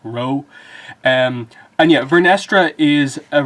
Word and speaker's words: Rwoh: is Jedi Knight Vernestra Rwoh, I think is how you pronounce it, or W-O-H. I think the W is meant to be silent, so like Rwoh.